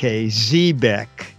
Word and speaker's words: Xebec: And the first thing I asked them is, how in the world do you pronounce XEBEC? And the gentleman said, spell it this way, ZEEBEK, Zeebeck.